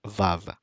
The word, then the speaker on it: vav: in the astronic pronunciation this letter is pronounced as a VA a v sound a VAV of course we know that that is not the ancient pronunciation but it's actually a w sound okay so this let